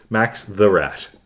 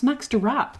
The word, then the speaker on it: Max Derrat: Would you Max the Rat? It's not. It's Max Derrat.